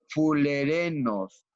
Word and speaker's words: fullerenos: estructura que le llaman fullerenos pero yo creo que se puede pronunciar como fulerenos fulerenos porque está en tal vez en inglés o no otro idioma y en español pues se lee fulereno y entonces como tiene